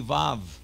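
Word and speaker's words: ו: Say with me, vav. Here's the vav, a V sound, v, v. Notice that the vet and the vav, both are V sounds.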